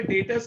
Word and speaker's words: debtors: हमारे कस्टमर्स हैं, कस्टमर्स को हम लोग यहाँ पे डेटर्स कहते हैं, DEBTORS, बी साइलेंट होता है।